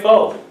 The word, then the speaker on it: Phở: I tried pho. Phở. Pho? Phở. Pho. Phở. It's very difficult to pronounce it.